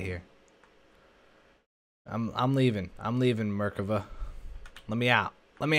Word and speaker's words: Merkava: fat bird cava actually slick it's called the Merkava you don't pronounce it like that don't you stop it you stop it all right I want to get out of here I'm leaving I'm leaving Merkava let me out let me out let me